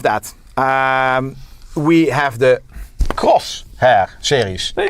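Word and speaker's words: Crosshair: So then above that um we have the cross hair series.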